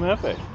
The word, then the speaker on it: jefe: This is Jeff, but we've decided started calling him jefe. Jefe, because J is silent in Spanish.